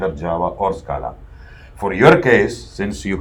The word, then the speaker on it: Scala: anywhere what is Scala it is an Italian word Scala SCA lah Scala right I just pronounced us collide is not scalar Cara and they two